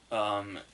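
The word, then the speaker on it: Heder: it looks like it's it looks like heater but apparently it's pronounced like bill hader and she has adapted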